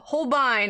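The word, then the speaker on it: Holbein: translator there you go i actually thought holbane as well oh interesting yeah whole holbine according to youtube for once the aussie pronunciation is right that's hilarious hi pam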